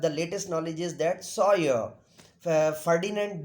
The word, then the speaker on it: Saussure: The saucer is not the correct pronunciation, but not too correct pronunciation, but it is being said in our society. So the real pronunciation is Sawyer. Saucer, not saucer, but in if any